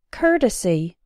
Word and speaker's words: courtesy: sport and poor court but in the words courtesy and courteous that same o Ur has an R sound as in the words N hurt and curtain courtesy courteous this R sound